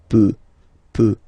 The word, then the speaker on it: peut: peut. Then, il, elle, peut. So you will put T at the end, you don't pronounce it.